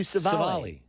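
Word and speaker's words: Civale: Aaron Savali. Savali? I was close. Yeah. But, which is odd because that's a pretty easy name to say. It's so Savali. weird for me that I can't do Savali.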